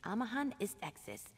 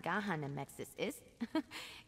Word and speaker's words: Amahan Istexis: It's Amahan Istexis, not Gahan Amexis Ist.